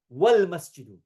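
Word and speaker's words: والمسجد: But if you're not starting with the alif or hamza, rather there's something before it, like the waw here, wal masjidu, then you don't even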